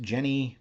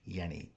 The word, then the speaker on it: Jenny: It may be pronounced Jenny, but German speakers online don't seem to agree on how this name is pronounced. So, I'm just going to stick with Yenni.